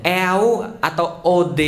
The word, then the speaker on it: eau de toilette: banget eau de toilette eau de toilette bacanya kau Ade itu air toilet toilet Kenapa namanya air